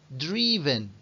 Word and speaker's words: driven: Y tenemos ejemplos como este, y atención a la pronunciación, que sería drive, drove, driven, driven. Es decir, aquí se pronuncia drive, pero aquí será dri. Drive, drove, driven.